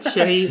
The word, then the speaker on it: Chérie: I'm going to say it in French because I'm French and I can, I can actually pronounce it. Chérie.